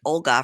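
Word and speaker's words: Olha: for a decade Olga it was spelled with an H but she pronounces it Olga from the Ukraine and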